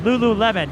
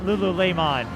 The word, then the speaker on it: lululemon: is the score and i need to make a clarification lululemon not lululemon unless there's some french pronunciation enthusiasts out there who enjoyed it so 24-19 alex chen